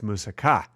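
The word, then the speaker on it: moussaka: a Greek food and if you want to impress people you put the accent on the last syllable like they do in Greece it's musaka not a lot of people know that listen I want you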